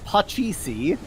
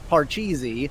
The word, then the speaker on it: pachisi: so the original indian is pachisi and uh americans took it as parcheesi because we love an infective r in america in there and uh